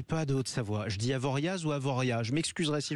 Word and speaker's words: Avoriaz: Allez, dites Avoria. Allez, Avoria, c'est noté et je ne me tromperai plus jamais. Il y a un Z, mais on le prononce pas.